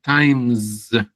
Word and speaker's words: times: Generalmente times miren que lo se vuelve como una s, una z times a la sena como una Z.